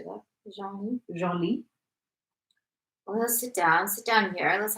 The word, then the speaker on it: Genlis: Genlis.